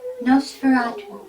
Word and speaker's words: Nosferatu: Carita, do you pronounce it Nosferatu or Nosferatu? Nosferatu.